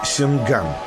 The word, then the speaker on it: Сянган: Гонконг или Сянган, так звучит название города в пекинском произношении, переводится как «порт пряностей».